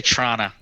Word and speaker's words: Toronto: from the land of Toronto Oh Toronto - righto Toronto as the locals say yeah so my look will say Tirana Tirana Tirana my my pronouns are